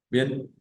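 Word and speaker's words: trente: tenemos el número 30 que se pronuncia bien teniendo en cuenta que esa e y esa n en francés suenan como una a nasal entonces decimos bien e repito eh la conjunción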